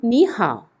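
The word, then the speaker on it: 你好: ที่ 3 นะ คะ เป็น วรรณยุกต์ เสียง ที่ 2 เรียบ ร้อย แล้ว นั่น ก็ คือ เป็น ไป ตาม กฎ การ ออก เสียง เสียง ที่ 3 นั่น เอง ถ้า ใคร จะ ไม่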